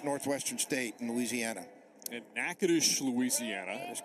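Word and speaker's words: Natchitoches: State in Louisiana at nades Louisiana that is correct probably one of the most mispronounced College city names you'll ever see because the spelling is nothing like the pronunciation no but it is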